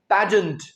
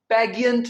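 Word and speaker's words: pageant: इसका प्रोनंसिएशन है पैजेंट। आपने इसे पैगियंट नहीं बोलना। ये है पैजेंट।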